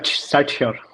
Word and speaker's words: SatSure: time about Satsure or Satsure, how do you pronounce it, Prateep? It's Satsure.